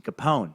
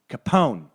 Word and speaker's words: Capone: See, Capone, that's how you do a name. Capone. Strong consonant sound at the end.